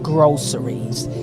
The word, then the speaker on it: Grow Series: And that's why we're hosting something called Groceries. It's pronounced groceries, just like the grocery store, but spelled Grow Series.